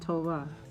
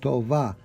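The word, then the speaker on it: טובה: Now you could use it like a B or like a hybrid BV, such as Tov, Tova, and over there they say, how do they say Happy New Year's? Shana Tova. Shana Tova. Tova. Sounds more like a V than a B.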